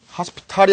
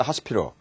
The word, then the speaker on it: hospital: 미국 발음 하스피털이죠. 모음 사이가 오니까 부드러워지죠. Hospital l이 제일 뒤에 오니까 하스피탈이 아니고 어가 되는 거죠. 하스피럴 하스피럴 되는데 나머지 액센트가 있으면 나머지 모들은 굉장히 이제 부드러워져서 약해집니다.